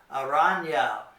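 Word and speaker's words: araña: pronounce it it sounds like you're pronouncing a in y in English like in the English word Canyon Canyon or onion it's kind of like that so you'd say I Una aranya there is a spider okay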